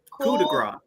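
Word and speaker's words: coup de grâce: Coup de gras.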